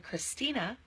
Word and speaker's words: Christina: that's the anglo-saxon pronunciation it can say as in Christina that's the Greek influence and it can say